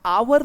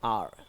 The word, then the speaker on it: our: OUR को आप लोग आवर ना बोले, इसका प्रोनाउंसिएशन आप लोग ये जनरेट करें, आर।